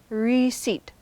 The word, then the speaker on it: receipt: Receipt is pronounced receipt. It's 2 syllables with stress on the second syllable, and that P is silent.